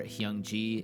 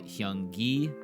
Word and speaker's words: Hyung-gi: for Hyung-ji. It's actually Hyung-gi with a hard G.